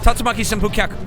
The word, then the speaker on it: Tatsumaki Senpu Kyaku: I can actually pronounce it if you want. It's Tatsumaki Senpu Kyaku.